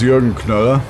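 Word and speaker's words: Jürgen Knöller: My name is Jorgen Kola. That's spelled J U was loud.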